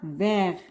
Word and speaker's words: vert: vert أخضر، تكتب على fin T ولكن تنطق vert.